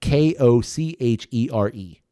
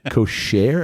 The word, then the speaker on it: Kochere: I think I'm pronouncing it correctly. Uh k o c h e r e Sure. I doubt it. Probably. I honestly really doubt it. That's not You think it's like Kochere or Kochere Kochere?